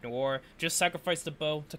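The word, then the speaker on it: Noire: Yeah, Noir.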